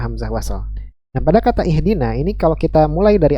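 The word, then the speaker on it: اهدنا: yang keen ini maka Hamzah wasal di sini dibaca dengan kasrah tapi kalau kita sambung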